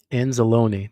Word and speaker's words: Anzalone: el oh my God how can I not pronounce this guy's name hold on hold on I got to anzalone there we go I know I've heard his name plenty of times Alex anzelone all right empty set Gino rolling out to